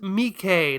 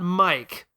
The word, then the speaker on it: Mike: Yeah, it's pronounced Mikay, not Mike.